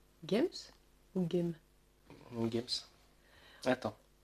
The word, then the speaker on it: Games: Games? Games? Ou Game? Games. Attends. Ce serait dommage que je prononce pas le S.